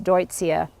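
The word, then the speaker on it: Deutzia: intermission here a little commercial look at this deutsia Stuart would you show people that is just gorgeous blooming in white and that's spelled d-e-u-t-z-i-a you guys I got this years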